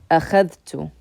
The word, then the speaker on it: أخذت: And in this case, what we're going to do is we're actually going to pronounce the dal with a sukun, أخذ, and we're going to add a ta with a dhamma. أخذت, I took.